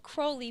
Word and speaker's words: Crowley: to Crowley Crowley well he said Crowley because it rhymes with holy listen I know him